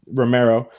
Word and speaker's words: Romero: Romero.